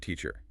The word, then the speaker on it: teacher: So the A at the beginning becomes a schwa, or the word teacher. The air at the end is a schwa, or problem.